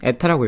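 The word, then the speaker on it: η: 유체의 비스코서리, 이 그리스 문자는 에타라고 읽고요. 에타.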